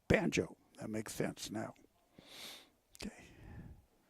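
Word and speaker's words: Bango: Yesterday they had it spelled B-O-N-J-O, and it's B-A-N-G-O, Banjo.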